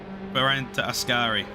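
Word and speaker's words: Variante Ascari: that very well have i got the corner name wrong there berenta askari askari that's the one i i totally forgot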